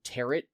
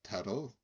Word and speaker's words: tarot: And now me, in my infinite wisdom and worldliness, throughout the entire video, pronounce them tarot cards as if it rhymes with carrot.